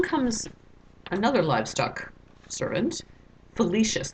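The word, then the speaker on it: Philoetius: another Liv stuck servant felicious that's a weird way to say this name but that's how it's pronounced felicious and he's the guy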